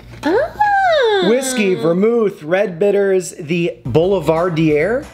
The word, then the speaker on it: Boulevardier: Whiskey, vermouth, red bitters, the Boulevardier. How do you say it? Boulevardier. Boulevardier. Boulevardier. In English, it is usually said as Boulevardier. Boulevardier from French Boulevardier. Yeah.